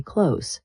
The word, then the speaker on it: clothes: especially among younger people, we completely drop the th sound. We just say close. It sounds exactly the same as when you say, "Please close the door. I folded my clothes. I need to buy new clothes." If you try to force the th sound, it actually makes your speech sound a bit robotic and choppy. So just relax your tongue and say close.